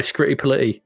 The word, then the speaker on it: Scritti Politti: You have to say it like that. Scritti Politti. You can't say it any other way. Yes, because it can't be Scritti Politti, can it? If you were doing this in give us a clue, rhymes with fighty. Politey? Bitey. Rhymes with bitey.